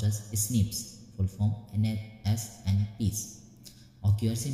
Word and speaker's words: SNPs: Ninth point is scientists have identified about 1.4 million locations where single base differences, that is single nucleotide polymorphism, pronounced as SNPs, full form SNPs, occurs in humans.